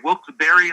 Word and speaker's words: Wilkes-Barre: debate about that but some of our historical experts here say wilt berry likes strawberry you know what i've